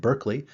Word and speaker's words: Berkeley: The British say that word Berkeley, even though we in the United States tend to say it Berkeley.